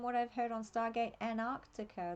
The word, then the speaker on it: Antarctica: Antarctica or from what I've heard on Stargate, Antarctica. They don't have a T in it. Is that how Americans say it? Antarctica. Ironically, Australians don't usually pronounce te's very well, but we say Antarctica.